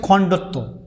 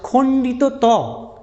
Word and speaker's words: খণ্ডিত ত: অর্থাৎ শিক্ষার্থীরা তোমরা যদি উচ্চারণটাকে সঠিকভাবে করো, বানান অনেক সহজেই ঠিক হয় এবং বানান নির্ভুল হয়, তাহলে তোমরা কি উচ্চারণ করবে, খণ্ডত্ব নয় খণ্ডিত ত, তাহলে হলো খণ্ডিত ত।